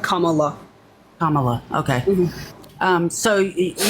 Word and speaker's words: Kamala: I know this is a common Mis pron mispronunciation of her name it's it's Kamala like Kamala Kamala okay um so you got but you